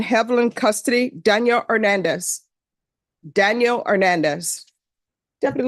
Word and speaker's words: Hernandez: custody Daniel Hernandez Daniel Hernandez Deputy L he's not here and I didn't even pronounce the h and I think I put the accent in the right parts Matthew Castillo Matthew Castillo